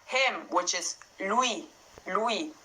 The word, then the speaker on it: lui: will, and you find that in words like him, which is lui, lui. So you hear that lui, ui, lui. And also in the word nui, nui.